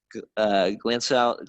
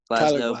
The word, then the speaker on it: Glasnow: You got Glansow, or how do you pronounce that? Glasnow, Paxton, Bassett, Rogers, Workman, Otavio, Pagan, Ginkle, Presley, Hudson, Medea, Castilla.